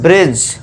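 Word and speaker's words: bridge: Silent कर देंगे। ठीक है दोस्तों? तो इसे क्या पढ़ेंगे हम? ब्रिज।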